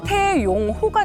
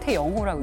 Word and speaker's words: 태영호: 그래서 우리가 맨 처음에 태용호가 된 거예요. 네. 태용호가 됐던 게 YONG를 써가지고 그 기자가 그걸 보고 태용호라고 쓴 거예요. 근데 우리는 그걸 용호로 읽는데 북한에서는 태영호라고 읽어요.